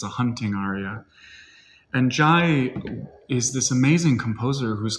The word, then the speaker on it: Giaj: a very interesting composer the name is strange it's spelt in many many different ways and i think that's because it was originally french it comes from jay j-a-y and then when it